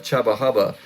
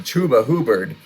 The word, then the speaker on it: Chuba Hubbard: And the newly discovered pronunciation of Chubba Hubba is actually Chuba Hubbard.